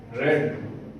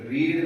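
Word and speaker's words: read: के साथ शैल आता है आई शैल हैव रेड स्पेलिंग वही रहेंगे सिर्फ प्रोनंसिएशन चेंज होगी रीड नहीं रेड पढ़ते हैं इसको थर्ड फॉर्म को भी सेकंड फॉर्म को फर्स्ट फॉर्म को रीड करते हैं।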